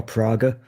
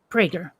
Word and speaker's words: Prager: Do you say Prager or Praga? Prager.